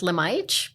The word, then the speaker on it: Lemajik: dad is Serbian okay from Serbia so it's pronounced lemage but as we joked around we're from Australia